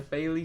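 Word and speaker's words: Bailly: moved to money nighters promised it like really Ali something like that but now everyone's pronouncing a Bailey so I'll leave that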